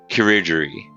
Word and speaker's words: chirurgery: Surgery is surgery, or chirurgery is how it's pronounced.